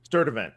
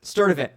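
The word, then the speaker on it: Sturdivant: Sturdvent. Sturdivan.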